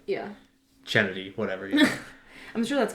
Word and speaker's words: Chennedy: pronounce oh Kennedy's name yeah they say because it's spelled c h e n n e d yenn it's like chennedy yeah so they were like hey because Angel